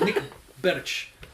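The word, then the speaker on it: Bärtsch: Nick Bosch. Right. Okay. Now I understand who you're talking about. Yeah. Thanks. So it's like Nick Birch. I'm pretty sure that's how he pronounced it.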